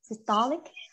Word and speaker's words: systolic: can do it so look at the word systolic okay systolic because the thought the second syllable ETO will be stressed so systolic okay um so systolic